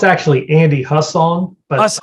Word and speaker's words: Hussong: uh but everyone who's watching we have andy song on today i hope i said that right well it's actually andy husson but it's okay that's all right hey man